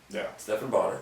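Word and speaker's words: Stephan Bonnar: Did you ever, when you're looking back on that finale with Stephan Bonner, There you go. correct pronunciation.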